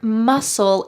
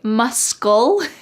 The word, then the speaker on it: muscle: walk a muscle cramp notice that the c in the word muscle is silent do not say muscle instead it's just muscle